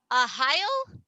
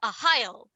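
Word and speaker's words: Arraial: is a heil and i hope i pronounced that properly it is spelled a-r-r-a-i-a-l but even diesel told me how to pronounce it in parentheses and i think they're trying to say ohio but this is a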